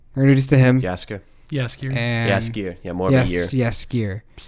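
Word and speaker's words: Jaskier: Yaskier. And Yaskier. Yeah, more of a year. Yaskier. Starts with a J. I pronounce it with a Y.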